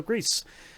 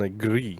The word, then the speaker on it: Gris: of tvp's Game Club this month we played Greece uh which thankfully mum sent a video so I could figure out is it the Spanish or the French pronunciation of it turns out of Spanish so Greece uh I'm your host Boston this on the